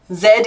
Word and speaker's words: Z: time 3 four five Zed is Australian nah I'm I'm part of the generation that says Z but then I was reading before I got to school so like they probably tried to teach me the correct way to do things but already knew how to do it so I was just I just didn't need their their their Superfluous things UK says zed zebra yeah it's what